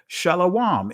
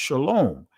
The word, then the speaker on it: shalom: Shalawam in the Israeli language many was uh is pronounced shalom.